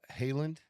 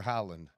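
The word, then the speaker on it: Haaland: Haland. Oh, Erling Holland. Yeah. For Norway. Does it they pronounce it Haland or Holland? I know it's Holland. Yeah, I've always heard it's Holland.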